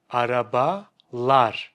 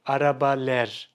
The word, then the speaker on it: arabalar: Araba lar. Arabalar. Arabalar. Arabalar. It sounds good, right? Now, imagine if I said araba ler. Araba ler. It sounds bad.